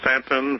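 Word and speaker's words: Staunton: At 126 Madison Place, and that's Stanton, Virginia, 24401. And Stanton is spelled what now?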